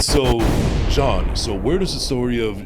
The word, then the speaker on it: Jean S.: my guest we have none other than je John S is that how you say am I pronouncing it correctly yes sir all right all